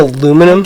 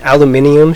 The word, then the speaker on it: aluminium: There's an I aluminum, guess so. sorry, an aluminium shortage?